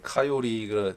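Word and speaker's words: coyote: 그러니까 그래서 카요리가 정말 이제 앞으로 혹시라도 나중에 미국 여행 가면은 꼭 코요테만은 카요리로 발음해야겠다.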